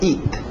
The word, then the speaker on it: eat: To eat, aquele T bem nítida. Eat, para no T, eat. Isso, EA, som de I, to eat.